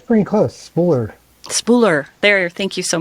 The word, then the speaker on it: Spuhler: and how you say it it's pretty close spooler spooler there thank you so much one of